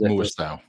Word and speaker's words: Muasau: round six, and saying Muasau, is that his pronunciation? Yes, Muasau.